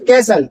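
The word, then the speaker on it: castle: सिर्फ कैसल जो मैंने ये ग्रीन में लिखा हुआ है कैसल। ये कैसल होता है। टी नहीं बोलता है। ये साइलेंट होता है माय डियर।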